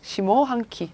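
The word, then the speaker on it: 下半期: 하반기는 시모. 훈으로 읽고요. 시모 한키. 뒤에 거는 또 음으로 읽어주네요.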